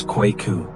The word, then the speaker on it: Kweku: "Welcome, Kweku," she said, pronouncing it wrong. He corrected her gently. "It's Kweku."